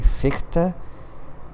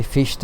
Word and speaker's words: Fichte: But anyways, ever since then I say Fichte, even though like everyone else says Fichte. Not me. I say Fichte. Yeah. Fichte. It's gonna make some people cringe.